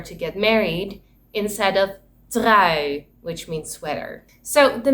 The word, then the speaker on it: trui: means loyal or to get married, instead of trui, which means sweater.